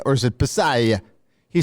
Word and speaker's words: Passaglia: I said is it passaglia or is it passaglia he said the G is silent like in lasagna Halsey is actually correct